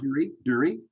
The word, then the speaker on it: Duerre: Duerre, like Duerre, right? Yay! Duerre. Yeah, there you You go. got it, Bob. Awesome. Thank you. Happy to be here. Duerre rhymes with jury, right?